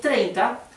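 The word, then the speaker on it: thirty: Y si es 30, el acento va en la penúltima sílaba y al final no va una N. Es 30.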